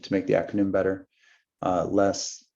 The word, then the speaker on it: LeSS: Less, Large Scale Scrum, the E is again silent, applied to make the acronym more readable.